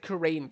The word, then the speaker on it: Kurain: Yeah, also, the developer actually told me that it's pronounced Kurain Village, like AI, like Ein for some reason. I always pronounce it Kurain Village because that's just how it's spelled.